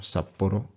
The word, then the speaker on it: Sapporo: Two tricky things here. One, the double consonant. The second one is that tapped R, Sapporo.